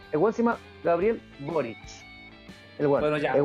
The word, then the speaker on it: Boric: Si la web es Boric. Pronunciamos bien la buena por Marcelo.